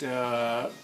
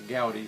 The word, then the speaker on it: Gaudi: But Alan Parsons project, Gaudi, how do we pronounce that?